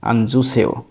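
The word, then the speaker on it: 앉으세요: তো যেহেতু এখান থেকে উপরে চলে আসলো, এখানে এসে জ উচ্চারণ হচ্ছে আনজুসেও।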